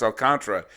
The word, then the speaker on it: Alcantara: alcantara i just found out his name is pronounced alcantra pitched a great game uh and it was